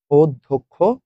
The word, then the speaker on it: অধ্যক্ষ: আমরা দেখেছি অধ্যক্ষ অধ্যক্ষ ধর সাথে যদি কখনো জ ফলা পান তাহলে সেটা দগে একটা দ পরে একটা ধমন অধ্যক্ষ ঐশ্বর্য আমরা প্রত্যেকটা বোর্ডেই